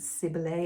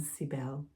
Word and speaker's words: Cybele: I was pronouncing it Cybele at the beginning because of my French influence. And then a Greek friend shared her pronunciation, and there's just so many pronunciations. I'm settling on Cybele.